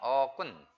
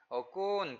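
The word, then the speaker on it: អរគុណ: 어군 썸 어꾼 그 발음 하실 때 어군 이렇게 꾼이 길지 않도록 주의하셔야 됩니다 우리 한국분들은 어꾼 꾼이 길어요 근데 캄보디아 사람은 꾼이 긴가 아니라 어가 차라리 길죠 어 어은 짧게 발음합니다 왜 그럴까요네 쓰라 오가 있기 때문에 어군 그러지 어군 이렇게 하지 않는다는 거죠 주의하시기 바랍니다 자 관계대명사 타 님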